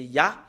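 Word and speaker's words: יה: il y a vraiment un terme qu'on le prononce, c'est Ya. Il y a vraiment une façon comment prononcer ce terme, le Yod et He. Les Juifs l'ont prononcé en Ya. Et ce que nous voyons sur l'écran, c'est Ya. Comment on le prononce? C'est I-A-H.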